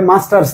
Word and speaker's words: Master: অনেকেই দেখি মাস্টার বইটার নাম লিখে, মানে কমেন্টে মাস্টার্স লিখে, আসলে বইটার নাম ব্রিটিশ ইংলিশে মাস্টার, রটা সাইলেন্ট, ঠিক আছে, একটা সাইলেন্ট, আর আমেরিকান ইংলিশে প্রনাউন্সিয়েশন মাস্টার, মাস্টার।